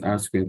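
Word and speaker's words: R²: of the metrics here the R2 is called Arrow squared pronounced as r squared of coefficient of determination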